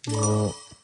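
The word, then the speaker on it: を: ka fu o Pronounce So, this is wo but it's pronounced o.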